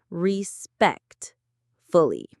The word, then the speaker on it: respectfully: The main stress is on the second syllable, respect, fully.